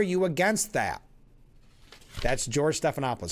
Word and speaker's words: Stephanopoulos: Mike Johnson trading barbs with George Snalophagus. Oh, I knew it. I got to get back in the habit of saying it right. Not Snuffalophagus. George Stephanopoulos.